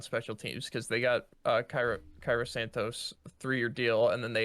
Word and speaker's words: Cairo Santos: But Yeah, I mean you can't even say his name. I'm pretty sure it's Cairo Santos.